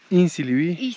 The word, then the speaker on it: Isinlivi: Isinlivi?